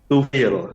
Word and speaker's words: Tufail: Tufail apa nih bacanya? Tufil biasa bacanya itu.